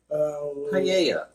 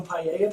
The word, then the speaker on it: paella: It's a taco paella place. Oh. That would work. That works still. I'd eat there. I would eat there. Okay, I take it back. The double L's aren't pronounced like L's, so that works.